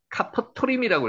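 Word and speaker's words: כפתרים: 여기 실제 읽으면요. 카퍼토림이라고 읽혀집니다.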